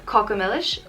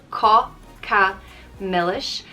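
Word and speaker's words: cáca milis: grammar cree next is kokomelish ko ka melish and i think it's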